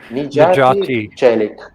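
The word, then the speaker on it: Necati Çelik: Okay, I just put the pronunciation like Najati Chelik.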